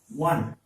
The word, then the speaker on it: one: Some people pronounce it as on. It is not on. It is one. The first sound is studying the wa. Is one.